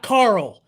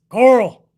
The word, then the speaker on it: Carl: uh by the way it's not carl it's coral coral like curl c-u-r-l that's how rick says